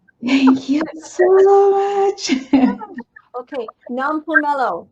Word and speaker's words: Nompumelelo: Okay, Nompumelelo. Did I say it right? No. Nompumelelo. Nompulelo. There, I got it.